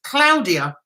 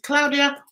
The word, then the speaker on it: Claudia: Italian it's actually pronounced Claudia is that how you pronounce yours Claudia do you pronounce it the Italian way which is Claudia or the um British way anyway did he guess